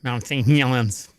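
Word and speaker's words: Mount St. Helens: sued for the crew go for experiment at Mount St haland yes Mount St hens that's how it's pronounced uh never words for doctors to avoid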